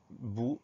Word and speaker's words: bout: Mot bout, une seule syllabe, bout, B-O-U. Ensuite, on a un T muet.